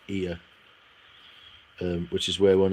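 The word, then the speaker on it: Oia: This is pronounced Ia.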